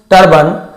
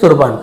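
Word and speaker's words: turban: और took off, हिज तुरबन, इसे तरबान, ऐसे टर्बन इंग्लिश में है, तो हम लोग बहुत से लोग पता पगड़ी को शायद तुरबान भी बोलते हैं, ऐसे कुछ बोलते हैं, वही है, पगड़ी को कहा जाता है।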